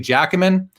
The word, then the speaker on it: Giacomin: A lot of people who don't know hockey don't know how to say it. I think I know how to say it. I believe it's Eddie Giacomin.